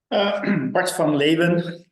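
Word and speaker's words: Bart van Leeuwen: Bart van Leven, that's how you should pronounce it, but I forgive everybody who butchered it.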